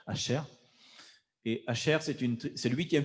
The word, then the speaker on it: Asher: La tribu qui est née, il est né le 2 de Shevat, exactement, c'est Asher, ou Asser, oui, ça s'écrit Aleph, Sher et Resh, Asher.